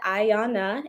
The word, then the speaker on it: Ayanna: like this um but my name is Ayanna that's how you pronounce it Ayanna and I'm a licensed